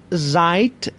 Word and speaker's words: seid: شما هستید، شمایی که چند نفرن، ihr seid. دوستان معمولا دی که در پایان کلمه است به حالت ت تلفظ میشه.